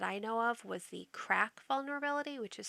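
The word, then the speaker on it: KRACK: to use encryption the original was wep that's cracked very easily um wpa and wpa2 and wpa2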